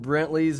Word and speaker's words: Brentley: Apparently there's a silent E in there. I was spelling it Brently. Why not put an E in there? I don't know. I can't hear it.